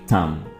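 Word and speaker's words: thumb: में आता है थम यहां पर आपने बी को नहीं पढ़ना है और इसको पढ़ेंगे थम अंगूठा नेक्स्ट वर्ड आता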